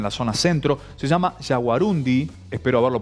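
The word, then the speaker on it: yaguarundí: porque por ahí aparece hay una tendencia como a pronunciar como una palabra aguda no jaguarundi pero está bien dicho entonces sí sí con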